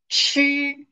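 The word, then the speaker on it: 吃: Now, here, the first picture show us the verb chi.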